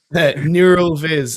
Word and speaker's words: Neural Viz: Not Meta Puppet, but that I can't remember the name, but Neuroviz. Neuroviz, that's it. Yeah. Glenn knows Neuroviz, yeah. Neural Viz, as it's pronounced.